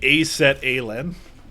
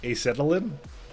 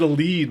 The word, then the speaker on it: acetylene: in a lake somewhere you pronounce it like a set alen acetylene acetylene okay yeah that would be it you're gonna you're gonna be helping me a lot oh I said a lead okay by the way